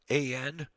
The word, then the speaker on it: McLean: McLean, pronounced McLean. Kind of like Bruce Willis's character in the Die Hard movies, but not the same spelling.